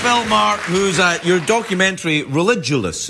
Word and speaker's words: Religulous: I'm here with Bill Maher, who's your documentary Religulous. Is that how it's pronounced? Correct. Religulous. You pronounced it correctly.